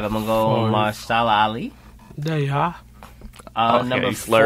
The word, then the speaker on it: Mahershala: I'm gonna go Mahershala Ali.